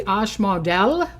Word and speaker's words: Asmodel: So this Thursday, the angel is going to be Ashmodel. Okay, you spell it Asmodel.